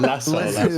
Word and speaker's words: lasso: Oh, the lasso. The lasso. Bro, I have never heard of that pronounced like that. I thought about the little like. I was like, I thought you were talking about a boat. We call it a Lazoo. In Spanish, at least.